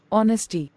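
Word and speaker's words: honesty: यहां पर एच लिखा है बट एच को प्रोनाउंस तो नहीं किया जा रहा है। वो साइलेंट है।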